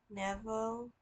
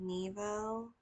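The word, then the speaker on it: небо: I remember when I first said sky. I um I said it a differently cuz it's navo. I think I said neo.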